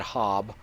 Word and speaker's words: Hob: the little imp hob I've been saying ha but they pronounce it hob which is kind of different from the way they pronounce everything doesn't matter proved of